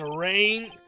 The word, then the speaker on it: arraigned: He was arraigned He was around. Alright, I gotta look up what this word is said. Around.